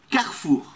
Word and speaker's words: Carrefour: Em francês é Carrefour.